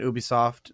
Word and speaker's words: Ubisoft: in the space you you were working at Ubisoft so am i pronouncing that correctly yeah and and you started